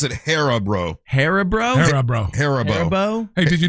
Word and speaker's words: Haribo: You pronounce it Haribo.